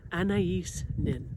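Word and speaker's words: Anaïs Nin: Anais Nin.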